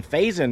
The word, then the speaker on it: Faison: town to go to an estate sale in Faison, North Carolina. I asked the local how you pronounce it.